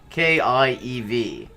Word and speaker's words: Kiev: it is i mean in russian it's ka yeah the k-i-e-v but the stress is on the first syllable kiev which is actually quite